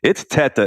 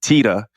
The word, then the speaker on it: Teta: Is it Teta or Teta? Yeah, this is going to be hilarious, Rob, because it's obviously I'm Italian, so it's Teta is the right pronunciation, but we in my family pronounce it Teta. And I don't know why